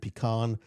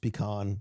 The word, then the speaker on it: pecan: U pumpkin and pecan. Pronounced pecan, not pecan.